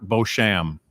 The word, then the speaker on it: Beauchamp: And I asked him how he pronounced his name. He says there's many different ways, as long as I don't get it wrong, but it's Mark Beauchamp. Close enough. It's French, and I can't do French.